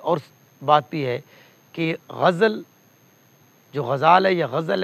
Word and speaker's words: غزل: آج ہم دیکھ رہے ہیں لیکچرر اردو کے اعتبار سے غزل, تلفظ غزل, غین اور جو زیپی ہے زبر ہے غزل, غزل نہ غزل, نظم ہوتا ہے تلفظ کے اعتبار سے.